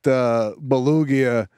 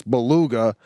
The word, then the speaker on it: beluga: So, Hank, put that belugia in the library for words mispronounced. It's beluga, and what did you ask?